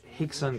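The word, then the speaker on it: Rickson: guy his name is Hixon Gracie rickon Gracie with KN you pronounce hion he's like a Brazilian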